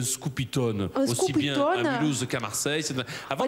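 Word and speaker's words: scopitone: le prononce à l'américaine elle le prononce à l' anglaise alors que on dit un scoopyon aussi bienouse qu'à Marseille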